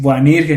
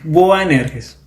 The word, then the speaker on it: Boanerges: Quizás es un poquito complicado, ya muchas personas, Boanerges, Boanirges, no, es Boanerges.